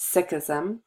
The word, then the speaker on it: Sikhism: is created which is kind of interesting it's Sikhism it's this is pronoun how it's pronounced Sikhism and it's led by a man named guru